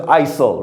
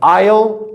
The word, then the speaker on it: aisle: Mostly they look at the S and they'll pronounce it ISIL, right? So this is not the pronunciation. The last word that I put here, they usually know it once I put this one. So here they're all pronounced the same. They are pronounced the same as the third one. Aisle, aisle, and aisle.